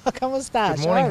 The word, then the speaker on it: como estás: Como estás? Como estás?